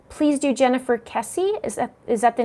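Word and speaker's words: Kesse: Daring D's Dauntless Detours, I love that name, says, please do Jennifer Kessie. Is that the name? Kessie is how you pronounce it.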